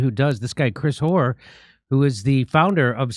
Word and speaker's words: Hoar: Please welcome to the show, Chris Hoare. Am I saying that? Am I pronouncing your last name correctly?